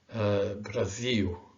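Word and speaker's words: Brasil: almost muted, quintao, legal, Brazil, so. Okay, that's not easy, huh? Because the tendency for an English speaker is to really pronounce the L, quintal, legal, Brazil, sol.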